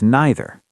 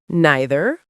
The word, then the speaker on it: neither: Same with neither. Neither or neither.